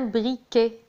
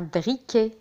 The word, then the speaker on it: briquet: un briquet. un briquet avec T à la fin ولكن لا ينطق. un briquet.